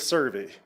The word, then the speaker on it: Cervi: It is Survey. So, you had it right. Sev. Um So, this is for the uh service contract for the uh stock contractor for the rooftop rodeo Survey Championship Rodeo.